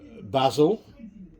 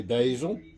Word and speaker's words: basil: It needs basil, or as the Americans say, basil.